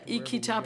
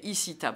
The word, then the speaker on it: ICITAP: Alors, il ne faudrait surtout pas dire ICITAP, il faut dire ICITAP. Je fais très attention à ne pas le mal prononcer.